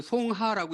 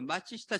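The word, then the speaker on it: 松下: 마치시타고노스케 얘기를 전에 했던가요 이걸 송하라고 읽으면 안 돼요 일본 말이에요 일본 사람이 마치시다라는 거 마취시하고는 사람인데 이분이 그 마츠시타 정기회사 있죠 그 맞지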